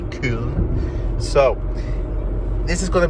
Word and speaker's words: Köln: That's how they pronounce it in Germany, Köln.